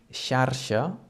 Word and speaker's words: xarxa: Another example with this sound would be xarxa, which is spelled X-A-R-X-A, and it means a net.